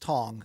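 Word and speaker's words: Cong: The broadcast, it looks like Wang Kong, it looks Yeah. like, right? It looks like it's Wang Kong, yes. It's pronounced Tong, and Tong.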